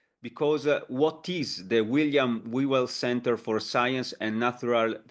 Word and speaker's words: Whewell: it is Whewell, and there's a sort of a breathless, sort of breathy So kind of beginning. repeat it, please. Repeat. Whewell. Whewell.